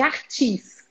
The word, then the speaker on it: Arthus: A gente já tem tanto anticorpo que chama reação de imunocomplexo tipo 3, que é a reação de Artis. Se escreve ARTHUS.